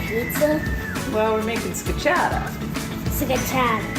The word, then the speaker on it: scacciata: Scacciata. Say it like real Italian, like Scacciata.